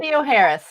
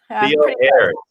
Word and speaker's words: Theoharis: Now you're gonna have to make sure that did I pronounce that right, Reverend Dr. Theoharis. Theoharis.